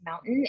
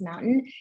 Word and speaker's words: MNTN: at a company called mountain it's spelled out mntn but pronounced mountain and they built advertising